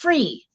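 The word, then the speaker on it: Fri: Oh, it's pronounced free. Free period. Now that makes sense. I was thinking it was fry. Okay. It's the Danish word for freedom.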